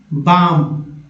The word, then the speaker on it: balm: या BALM, क्या पढ़ेंगे, बाम।